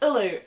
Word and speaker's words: Uladh: But the modern word ULADH is usually pronounced Ulu, as you'll know if you've ever listened to any BBC Radio Ulu, which I do occasionally because they have some podcasts I listen to.